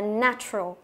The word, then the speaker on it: natural: Và cái chữ A ở đây mình không đọc là ne, nhớ chưa? Không phải âm E đâu, mà nó là âm E bẹt, đọc là na, natural.